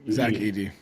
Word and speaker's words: Zach Edey: Is that how you pronounce his name from Memphis? Zach Edey.